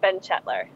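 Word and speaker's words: Benchetler: his last name uh his name's Chris Ben chetler okay the bench you sit in and then et l r and AJ just kind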